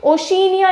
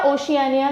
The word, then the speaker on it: Oceania: ठीक है, ओशिनिया या ओशियानिया जो भी जिस भी तरह से आप प्रोनाउंस करें।